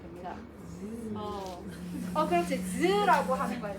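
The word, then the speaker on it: ㅿ: 자, 반치음은 어떻게 소리가 나냐면 시옷과 지읒의 중간 발음이야. 자, 네? 그래서 어떻게 발음해야 돼? 시옷과 지읒의 중간 발음. 지읒을 느끼하게 발음하면 됩니다. 그렇지. 즈라고 하는 거야. 즈.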